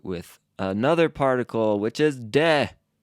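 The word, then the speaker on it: で: we mark it with another particle which is dead d e not d-a-y huh I wonder how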